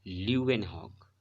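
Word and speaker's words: Leeuwenhoek: इसे पढ़ा क्या जाता है बेटा, प्रोनाउंसिएशन बहुत बच्चे गलत कर देते हैं, इसे एंटोनी पढ़ते हैं। That's not Antony, that's Anton van ल्यूवेनहॉक। ल्यूवेनहॉक, Anton van ल्यूवेनहॉक इनका नाम है, जिन्होंने इसको माइक्रोस्कोप को का इन्वेंशन किया।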